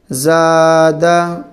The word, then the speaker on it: زادہ: زبر دا، زادہ زادہ۔ زبر کو تھوڑا بھی نہ کھینچیں۔ زا الف زبر زا،